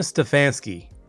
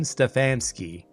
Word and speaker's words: Stefansky: Ste Kevin Stfansky, let me say it right. Kevin Stefansky should be fired.